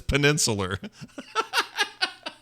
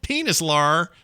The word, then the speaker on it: peninsular: Oh, it's peninsular. It's not penis at all. It's like peninsula. What did you think it was? Peninsular Malaysia, for example, is a peninsula. It's Malaysia's peninsula. And so I saw the word peninsular and went, ew, penis, what? Penis lar. Like I was trying to do it phonetically. It's not, it's wrong. It's wrong.